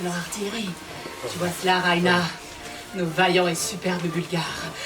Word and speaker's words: Raina: On dit Raina, avec l'accent tonique sur le i. Raina!